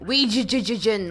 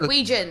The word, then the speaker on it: Ouija: Is she going to yell at us for our pronunciation of Glaswegian? Oh, here it is. I'll play it. Glaswegian, Ouija, like Ouija board, Ouija.